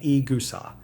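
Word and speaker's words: い草: This one has two parts, the tatami and the igusa, pronounced tatami and egusa.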